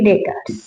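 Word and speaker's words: debtors: Sundry डेटर्स, इसमें B silent होता है।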